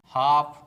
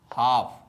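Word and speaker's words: half: दोस्तों आज मैं आपके लिए डिफिकल्ट वर्ड्स में साइलेंट लेटर एल लेकर आया हूं। तो दोस्तों सबसे पहले साइलेंट लेटर एल से बने शब्दों का प्रोनाउंसिएशन करेंगे और अंत में इसके स्पेलिंग पर बात करेंगे। तो दोस्तों चलिए शुरू करते हैं।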